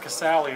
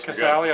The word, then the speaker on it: Casali: All right, John Manuel with Curt Casali of Vanderbilt. Did I pronounce the name right first? Yes. Casali, all right, good.